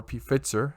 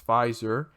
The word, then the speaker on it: Pfizer: already and morena and pfizer or pfitzer however you want to pronounce it but it's pfizer um is going ahead